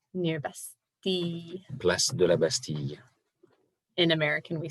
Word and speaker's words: Bastille: Place de la Bastille. In American, we say Bastille, but whatever. Always mispronounce everything.